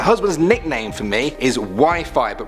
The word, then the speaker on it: Wi-Fi: My husband's nickname for me is Wi-Fi, but pronounced Wi-Fi.